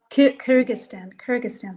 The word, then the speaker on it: Kyrgyzstan: Kyrgyzstan. Yes, Sorry. Kyrgyzstan.